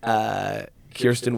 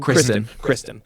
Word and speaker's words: Kristen: I cannot believe that they got Kirsten Wiig. Is that how you say her name? Kristen. I was thinking Kirsten Dunst.